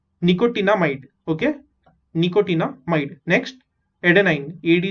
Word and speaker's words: nicotinamide: NiCO, निको, TINA टीना, MIDE might, निकोटिनामाइड।